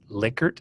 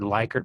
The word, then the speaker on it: Likert: There's a statement in your book that the correct pronunciation is Likert scale. Now, I've heard Likert my entire life, so it's hard for me